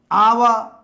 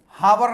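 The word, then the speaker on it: hour: आवा, हावर नहीं बोलेंगे, एच साइलेंट है यहां।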